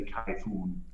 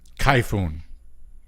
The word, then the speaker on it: Kayfun: Well, in Germany they pronounce it German, so they say Kayfun. Kayfun.